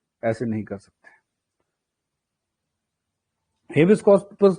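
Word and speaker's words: habeas corpus: India में 5 type की Ritz होती है: हेबस कॉर्पस, मडामस, सर्क्यूलरी, प्रोहिबिशन, कोवरेंटो. हम हेबस कॉर्पस कहते हैं, लायर्स हेबियस कॉर्पस कहते हैं.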